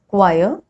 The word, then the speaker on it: choir: Rule number 3, H is often not pronounced when it comes after C, G or R. Like in these examples, choir, chorus, echo, ghastly, aghast, ghoul, or rhinoceros, rhyme, rhythm.